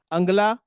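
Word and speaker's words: Angela: उनका नाम था अंगला मैकेल। अंगला मैरकेल। वो इंग्लिश में लिखा होता था एंजेला। बट जी का प्रोनाउंसिएशन गाफ का होता है।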